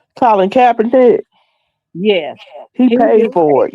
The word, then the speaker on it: Colin Kaepernick: just did the autopsy on the guy that Colin Tabernacle, I guess how you pronounce his name. Last year, September. How you pronounce his name? Colin Kaepernick.